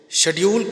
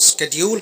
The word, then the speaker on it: schedule: कुछ लोग इस शब्द को स्केड्यूल कह के भी प्रोनाउंस करते हैं, तो टेंशन नहीं लेना है इस बात का। दोनों ही प्रोनाउंसिएशन मार्केट में बराबर चलती हैं। आप या शेड्यूल बोल दीजिए या स्केड्यूल बोल दीजिए, एक ही बात है।